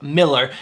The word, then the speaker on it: Millar: That's right, Cole, I said it right, Mark Millar.